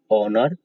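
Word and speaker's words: honour: Main 4 word यही है, आवर, एयर, ऑनर, ऑनोरेरियम। सो इनका उच्चारण जब कर रहे हैं तो आप देख रहे हैं कि एच साइलेंट हो जा रहा है और सबसे पहले आ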